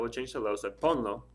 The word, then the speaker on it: ponlo: So ponlo, like put it, en la mesa, on the table, for example. No accent marks, just 2 syllables, so don't worry about it.